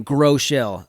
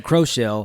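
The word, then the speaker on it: Groeschel: own name but so i just put like grow and shell together and that's how you pronounce it grow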